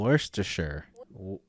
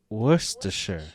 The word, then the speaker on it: Worcestershire: glace what's it say oh god worcestershire oh worse to sure worcestershire all right there we go worcestershire sauce well since